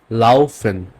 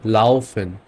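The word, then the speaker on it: laufen: ওকে আরেকটা কম্বিনেশন দেখি আ আর উ মিলে উচ্চারণটা হবে আও এর মত আও আমি আপনাকে এক্সাম্পল দেখাই লাওফেন ওকে লাউফেন কাউফেন ফাউল লাফেন মিন্স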